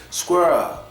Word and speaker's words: squirrel: It has to be continuous, because if it's not continuous, you might say it like some of the Germans say it when they say squirrel, squirrel. Squirrel. No, don't stop, keep it moving.